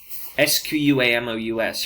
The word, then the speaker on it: squamous: a flat cell now squamous you're going to hear that pronounced all different ways i'm going to pronounce it squamous but you will hear squamous and you will hear